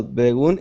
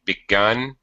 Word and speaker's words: begun: next one yes well beon is half done okay well hang on a second your pronunciation the uh sound this sound should be the same begun done well begun is half done that's perfect okay thank